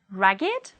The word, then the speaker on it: ragged: If they are adjectives, they do not follow the rule and they will be pronounced with id, it. Let's read it as adjectives. Aged, blessed, crooked, dogged, learned, naked, ragged, wicked, and wretched.